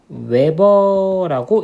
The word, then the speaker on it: Wb: 그래서 요게 공식이야.요 공식을 알아두면 되고 그다음에 참고로 자기 선의 단위는 WB라고 쓰고 외버라고 읽으면 돼.